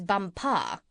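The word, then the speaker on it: Bumpo: there as the Crown Princess bumpa you accent the last syllable and tell me did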